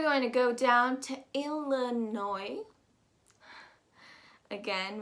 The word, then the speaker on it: Illinois: to go down to illinois again we've got a silent s a la noi and we're going to